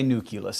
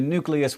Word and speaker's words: nucleus: to switch over to nucleus which is after all how it's spelled and that is all